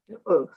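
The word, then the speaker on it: אות: Oath. Not spelled like this.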